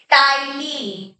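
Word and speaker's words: ptyalin: बहुत बार पढ़ा होगा सीधे टाइलिन पी साइलेंट होता है टाइलिन को फिफ्थ क्वेश्चन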